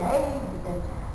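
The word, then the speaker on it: Haag: not kyle hebert h h-a-a-g hey not hog not she's like just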